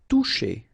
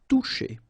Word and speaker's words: toucher: Toucher. Okay, remember you combine this O and U, you get the sound OU, and then C and H, sh. Toucher.